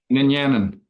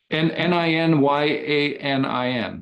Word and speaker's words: Ninyanin: How do you pronounce it? Ninyanin. Ninyanin. Ninyanin.